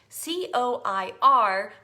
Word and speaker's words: coir: And so I started looking into it more, and you guys probably all know this, but it's called a Coir mat. C-O-I-R, but pronounced like foyer.